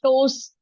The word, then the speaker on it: toes: in these see the toes always whenever the word end with es it has the sound of z sound toes yes when somebody is